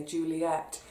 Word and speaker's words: Juliet: school had me so Juliet she wrapped me on the knuckles Romeo and Juliet Juliet to rhyme with Capulet or to scan with love it I've always loved it